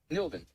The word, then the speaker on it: Nelvin: It's like Melvin, but with an N. Nelvin.